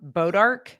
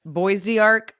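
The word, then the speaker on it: bois d'arc: how it's s of sort of like um bodarch. If anyone says boy dearch you're like you're not from here. You're not from these parts.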